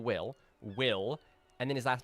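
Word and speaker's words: Wyl: Granted, it's spelled W-Y-L, but it's still Will.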